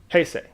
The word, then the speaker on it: Heisei: Heisei. Yeah. That's how it's pronounced.